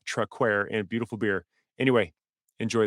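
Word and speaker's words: Traquair: that I talk about I mispronounce and it is actually called traquer so as we move forward just please forgive that uh that mistake and understand it is truckware and beautiful beer anyway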